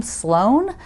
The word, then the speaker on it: Sloan: celebrating like me, because my last name, Sloan, spelled with no E, S-L-O-A-N, is Irish.